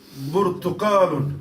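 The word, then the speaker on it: برتقال: The third one is Burtuqalun. Burtakalun. Remember in Arabic you don't have pe or pa or whatever.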